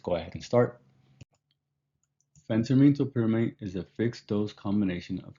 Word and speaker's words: topiramate: While creating this video, I came across a couple of different pronunciations for topiramate. LexiDrug pronounces it as topiramate. Make of that information what you desire, but I'll pronounce it as topiramate because that's what I'm accustomed to hearing.